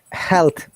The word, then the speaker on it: health: Oh, It is this th is we call unvoiced or health, non-voiced.